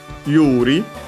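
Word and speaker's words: 有利: inclusive particle also even yuri uh a Chinese compound uh I think this one might be accent yes it's accent on the first uh on the U Yuri.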